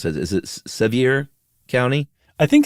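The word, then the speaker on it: Sevier: Uh, how do you pronounce that? Is it Sevir County? I think it's severe. Oh, it's it's just severe. I'm almost positive it's severe.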